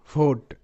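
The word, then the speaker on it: vote: টি ই নোট নোট ভোট ভি ও টি ই ভোট ভোট রিমোট আর ই রি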